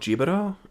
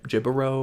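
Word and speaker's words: Jíbaro: to my siblings is called jibada right that's how I've always been saying it um it might be gibbero or it's spelled j-i-b-a-r-o okay I think it's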